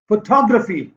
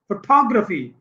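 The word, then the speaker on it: photography: फोटोग्राफी, थ पे stress है, फिग्रटो, फोटोग्राफी, पीछे से तीसरा, एक दो तीन।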